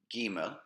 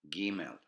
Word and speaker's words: Gimel: Now, let's try to pronounce them. Aleph, Bet, Gimel, Dalet, Hey. Once again, Aleph, Bet, Gimel, Dalet, Hey.